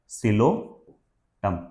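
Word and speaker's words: Psilotum: ठीक है, फिर सिलोप्सिडा का भी एक एग्जांपल दिया है, सिलोटम, इसमें पी साइलेंट है ना, सिलोटम।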